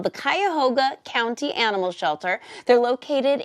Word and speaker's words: Cuyahoga: Cuyahoga, yes, right? You did. Yes, Cuyahoga County Animal Shelter.